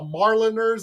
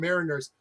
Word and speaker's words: Mariners: I used to thought they were called the Marliners or the Mariner or whatever until I realized, oh, it's called Mariners. But When you were actually